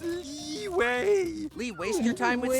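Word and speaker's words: Liyue: ] up or what it's pronounced leeway Lee waste your time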